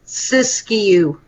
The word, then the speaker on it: Siskiyou: Siskiyou.